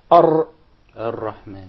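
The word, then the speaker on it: الرحمن: If you remember, that was your example when we said that the unwanted repetition or rolling of the Ra. So say Ar-Rahman. Actually, you pronounced several Ra. It wasn't just one.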